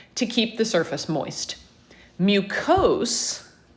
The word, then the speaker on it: mucous: keep the surface moist mucose which we often just pronounce mucus as well but ous that ending is used as an adjective so it's describing the